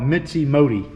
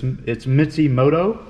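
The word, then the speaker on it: Mishimoto: I call it Mitzi Modi. but it's Mitsumoto, I guess is how they pronounce it.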